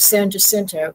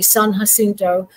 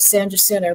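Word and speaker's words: San Jacinto: at the Battle of San jento and I'm not saying it correctly it's supposed to be San hinto but we kind of texanized that call it San Joo but sadly a lot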